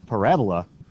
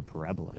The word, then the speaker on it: parabola: For those of you that know what a parabola is, not a parabola. Because remember, you put the emphasis on the wrong syllable if you say it that way.